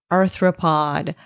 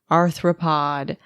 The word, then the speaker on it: arthropod: here throughout my research i kept misspelling the word arthropod as anthropod and i even put a note to myself to not mispronounce it and i stubbornly did it anyway arthropod arthropod arthropod also shrimp are